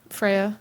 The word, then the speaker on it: Freya: It's entitled Endearing Duo, and it's from Great Britain, from Freya Chaos. Oh, the goddess of love in Norse mythology. Cool. Oh, did I say it right? Freya, yeah.